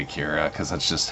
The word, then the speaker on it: Akira: a day so there you go yeah it's pronounced Acura um I say Akira because that's just how I've always said that